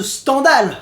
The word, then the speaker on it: Stendhal: 6 jeux mais stendhal bon ça ça se prononce stendhal en vrai mais sternal sa claque